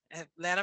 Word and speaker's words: Atlanta: sorry I'm from Atlanta Atlanta people say she's not from Atlanta pronouncing that T at the end um but uh my